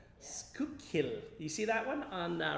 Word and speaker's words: Schuylkill: He said it's Schuylkill. Make sure you get the pronunciation. Schuylkill. That is correct.